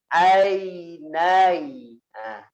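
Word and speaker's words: عينين: Alam naj'al lahu ainain. Ain pertama tidak ditahan. Ainai. Nah, ainain. Nai-nya panjangin. In.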